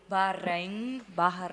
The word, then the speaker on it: Bahrain: He just put it here like the proper way to say Bahrain.